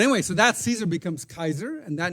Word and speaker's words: Caesar: But they didn't pronounce it Caesar. By the way, the word Caesar in Latin is not Caesar; it is Kaiser. The C is hard.